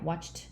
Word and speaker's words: watched: Yeah, watched TV. And then you can review. Like the ending sound is ch, right? So no sound. So ED should be, and then they will say t.